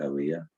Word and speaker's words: Aaliyah: aaliyah i'm sorry i keep mispronouncing your name i think is it alia okay yeah yeah so